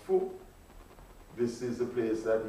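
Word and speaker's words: Fon: Maulisa in the language of the Fu, spelled F-O-N, but pronounced Fu.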